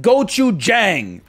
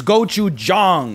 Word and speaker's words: gochujang: started from okay and it is not gochujang it's gochujang okay it's we've come too far to slip backwards into the gochujang the a sound it's